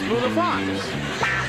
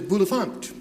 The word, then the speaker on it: Bulifant: I thought your accent was on the first syllable. What is it on? How do you spell it? Bulifant. But it's French for bel enfant.